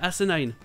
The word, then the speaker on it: asinine: Et ce n'est pas pour rien que le début de asinine se prononce comme ass, parce que ça vient justement de ce mot.